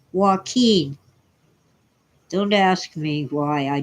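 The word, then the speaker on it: Joaquin: Central Valley sanen Valley j o a quu i n is pronounced Walken don't ask me why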